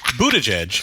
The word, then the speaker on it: Buttigieg: Buttigieg is the only top 2020 candidate not offering staffers health care yet.